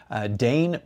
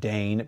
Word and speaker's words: Dane: And so Dane Peddigrew popped into my head and I thought, I'm gonna do these quotes and make the quotes from a imaginary guy named Dane Peddigrew.